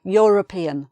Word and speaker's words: European: But the way it's pronounced, it has a Y at the beginning. Y, European, European. So we say the European.